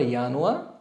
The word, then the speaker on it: Januar: বানানটা খেয়াল করবেন একটু। সো জানুয়ারিকে বলবো আমরা ইয়ানুয়া, ফেব্রুয়ারি হচ্ছে ফেব্রুয়া, মার্চ মেয়ার্চ, এখানে আউমলাউট মেয়ার্চ।